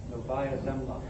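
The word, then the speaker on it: Novaya Zemlya: Uh this one shows and I can't begin begin to pronounce that name. Can you say that for me off the slide? Nova Zimla.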